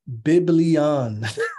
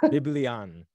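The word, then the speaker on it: βιβλίον: Greek uh Strong's number g975 it means it's pronounced biblion biblion it means a scroll a book or writings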